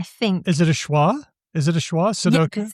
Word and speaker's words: sudoku: Sudoku? Yeah, it's more like a schwa. Yeah, exactly. It's like whatever. Look, that's very English. We often schwa the unstressed syllables. Instead of saying Sudoku, we say Sudoku.